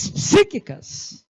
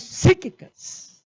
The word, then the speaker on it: cíclicas: pronto tá melhorando né são crises cíclicas cuidado com a pronúncia ela é muito delicada você não vai pronunciar botar um I depois do P e pronunciar não e não olha não é fácil